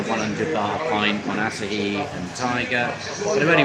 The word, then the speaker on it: Asahi: It's called Asahi. I had to ask some Japanese customers how to pronounce it correctly. Oh, really? Okay. It's Asahi.